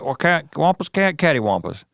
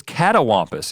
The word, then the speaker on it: catawampus: Wampus what was it cattywampus catawampus is not cattywampus it's catawampus it's c-a-t-a what in the Cambridge